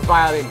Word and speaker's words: violin: ไอลิน จะ มี ตัว v นะ vi vi Violin viol Violin แล้ว Ready Set Go Dress Woman